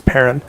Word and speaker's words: Perron: We had a chance to talk with Andrea Perron, who is, and I asked her, and that's how you pronounce it. It's Perron.